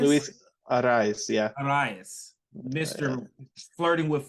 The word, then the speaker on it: Arraez: Arias? Luis Arraez, yeah.